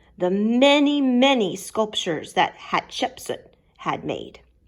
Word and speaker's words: Hatshepsut: her temple he says her name is pronounced hatshepsut what exactly is a